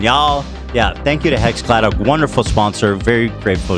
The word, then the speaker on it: HexClad: Hexclad? Hexclad.